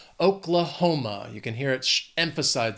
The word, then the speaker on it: Oklahoma: This state has 4 syllables and the stress is on that third syllable. Oklahoma.